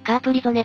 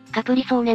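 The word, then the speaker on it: Capri-Sonne: 果実飲料だなドイツ語ではカープリゾネと発音するんだが日本ではカプリソーネになったぜ特徴的なの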